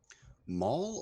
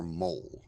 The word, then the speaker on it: maul: Maul or mole? I just want to make sure of the A pronunciation. maul, like Okay. the weapon.